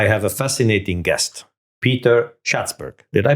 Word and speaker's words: Schatzberg: In today's episode, I have a fascinating guest, Peter Schatzberg. Did I pronounce it right?